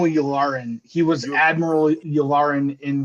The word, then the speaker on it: Yularen: We see everyone rushing down the halls, and then we get to see, I might get the name wrong, but is it Admiral Yolanda? Colonel Yularen.